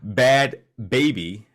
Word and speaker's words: Bhad Bhabie: So another rapper, Bad Baby. Her name is spelled Bhad, Mm-hmm.